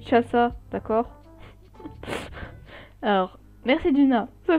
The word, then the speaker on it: Chasa: Ça se dit Chassa, d'accord?